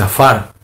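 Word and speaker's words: עפר: timo lógico en hebreo la palabra polvo se pronuncia se dice a farc las palabras que se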